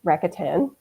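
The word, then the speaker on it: Rakuten: then of course there's cashback sites um there's racka 10 that's how you say it that used to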